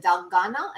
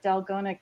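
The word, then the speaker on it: 달고나: The memes that have been going around about that, how do you pronounce it? Dalgona? Is that correct? Dalgona.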